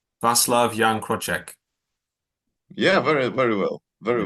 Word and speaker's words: Wacław Jan Kroczek: you pronounce your name my name is properly pronounced yan croch Great. Vas love young Crochek.